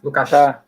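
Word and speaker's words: Lukács: o convite e o na verdade a pronúncia do do nome dele é uma pronúncia bem específica do Húngaro né então a é o é como se fosse um s com C no final uma coisa assim sabe lucc um negócio meio esquisito a nossa a nossa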